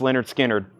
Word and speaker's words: Lynyrd Skynyrd: came out 35 star that's pronounced Leonard Skynyrd pronounced Leonard Skinner that is up for auction we'll keep that